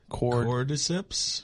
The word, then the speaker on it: Cordyceps: Cordyceps?